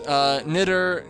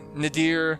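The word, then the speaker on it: Nidr: It's a little bit of overlap, but, like, there's, Nidder, Nadir, Nider. There's a couple of different pronunciations.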